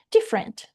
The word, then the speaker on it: different: Different, different, different. Diferente. A gente não pronuncia esse e aqui, tá? É direto do f pro rent.